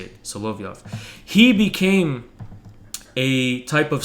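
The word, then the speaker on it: Solovyov: how you say it so love you off he became a type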